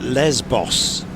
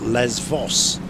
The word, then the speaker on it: Lesvos: into Odyssey's airport on we we call it Lesbos, but I've noticed it's pronounced and spelled Les Voss.